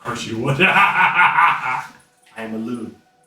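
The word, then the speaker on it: Elune: your name of course you would I am aloon e l u n e Alon Alon how did you spell that e l u n e l u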